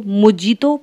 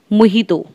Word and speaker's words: Mojito: मोहितो की एक बहुत इंटरेस्टिंग बात है, जो मोहितो की स्पेलिंग होती है वो होती है MOJITO। तो लोग इसको मोजीतो प्रोनाउंस करते हैं जबकि इसका प्रोनाउंसिएशन होता है मोहितो।